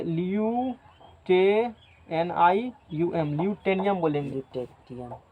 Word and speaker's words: lutetium: ठीक है, बोलने के क्रम ल्यूटेनियम है, ल्यूटेटियम।